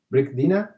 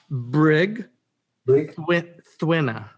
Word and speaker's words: Brigthwina: One quick question, because I was in my how do you pronounce that name? Is Brigdina? Oh, Brig Thwina. Thwina. Brigthwina. Yeah. Brigthwina. Yeah. Okay.